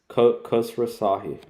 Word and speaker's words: Khosrowshahi: CEO, I don't know how to pronounce his name. Dara says. Khosrowshahi.